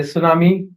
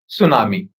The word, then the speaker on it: tsunami: For say, the phonetical transcription of tsunami is So, this is the phonetical transcription of tsunami. Here, we don't have T.